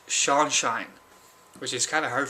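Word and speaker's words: Curseanshine: and your sunshine you are c u r s e a n s h i n e apparently I've gave him a couple of shout outs already and I mispronounced his name every time because I forget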